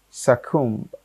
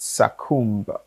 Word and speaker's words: succumb: So number one is succumb, not succumb. No.